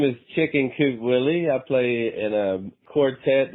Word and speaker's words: Willaye: And it's actually Willie. It's a funny spelling, but you can just pronounce it Willy.